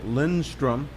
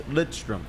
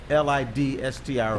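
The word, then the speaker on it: Lidström: Half the people thought his name was Nick Lindstrom. That's what I thought it was. Right. How you say it? What's the proper way? It's Lidstrom. Lidstrom.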